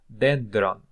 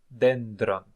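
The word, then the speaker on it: δένδρον: death see like eutanasia okay so thanatus death dendron dendron dendron is uh a tree tree like this okay dendron mus mus mus I think you can guess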